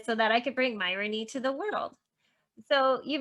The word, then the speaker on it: Myronuk: say your last name i would say it's like ironic but with an m and then i would